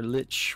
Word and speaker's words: Lich: the waterfall is where the lick we found yeah that's how you pronounce it look her Lich whatever terms you prefer okay well I can't